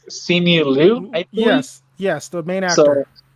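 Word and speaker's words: Simu Liu: really like his name i don't know how to pronounce it but it's see me lou yes yes the main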